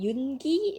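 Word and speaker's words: 윤기: Just listen to me, okay? I know the correct way to pronounce it.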